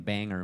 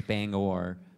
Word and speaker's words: Bangor: I got made fun of for saying Bangor, Maine. Apparently it's Bangor.